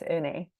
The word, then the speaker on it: Eunae: My name is Eunae. It's kind of hard to pronounce, right? Eunae. It's like Renee, but take the R off. So it's Eunae.